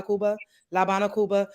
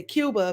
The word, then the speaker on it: Cuba: pronounce it La Habana, Cuba, because Like, A, E, I, O, U are the vowels in Spanish. So we don't say Cuba because the U is so Cuba, and the A is A.